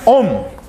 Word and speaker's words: ohm: a letra Ômega maiúscula a gente pronuncia om o nome dessa unidade